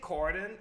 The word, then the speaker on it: Corydon: what avenue it's at corydon gordon courtney i mean i know but i'm i'm saying it like it's supposed to be said i'm going to take corydon specifically starting wherever the